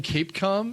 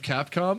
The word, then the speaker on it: Capcom: because Jen yeah European was calling Cape calm instead of Capcom and I'm like you